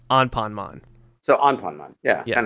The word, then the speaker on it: Anpanman: with the Japanese client they went with the Japanese pronunciation on ponman so on ponon yeah